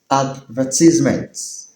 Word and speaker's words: advertisement: A D V E R T I S E M E N T. Brits pronounce it as advertisements whereas Americans pronounce it as advertisement.